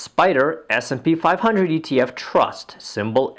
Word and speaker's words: SPDR: The second fund to suggest is the SPDR, pronounced Spider, S&P 500 ETF Trust, symbol SPY.